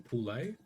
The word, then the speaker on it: Poole: Is it Poole? Is that how you say it? I got a mate with the exact same. Yeah, it's yep.